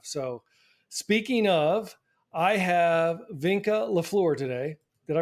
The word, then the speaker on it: Vinca: right by the way I pronounced my first name as if it rhymed with senka for those of you who remember Sanka brand decaffeinated coffee so I say Vanka Vanka close yep all